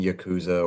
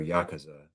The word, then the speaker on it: Yakuza: It's actually pronounced both. Yeah, see? It just depends on what region of the world you hail from. My corner of the universe, we say Yakuza.